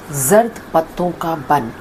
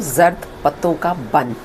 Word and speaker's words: Zard Patton Ka Bunn: आप सब में से बहुत सारे लोगों ने मुझे जर्द पत्तों का बन पाकिस्तानी ड्रामा हम टीवी पर उसकी सजेशन दी थी। आज मैं उसका प्रोनाउंसिएशन ठीक कर रही हूँ, जर्द पत्तों का बन।